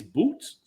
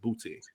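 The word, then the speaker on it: Boutte: Denise Boots as Trina. It's funny because in French you pronounce it boot. In English, you pronounce it booty.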